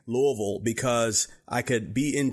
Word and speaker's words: Louisville: with Simon realy in Louisville Kentucky am I pronouncing it right David Louisville that is correct you got it I could